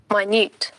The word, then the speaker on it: minute: but let's see here minut minute isn't it surprising the same spelling but the pronunciation is different the pronunciation is totally different here it is minut